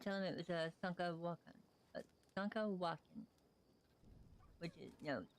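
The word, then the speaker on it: Šúŋkawakȟaŋ: Like, for instance, if someone asked what this was, she would tell them it was a Sankawakan, which is, no, Sank-a-wakan. But it's not pronounced Sunk, it's pronounced Sunk, so it's Sankawakan.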